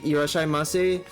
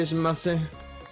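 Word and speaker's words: いらっしゃいませ: You know, like when I enter those Japanese restaurants and at this people try to say irashaimase, but they don't know how to say it properly, so they just say shimase.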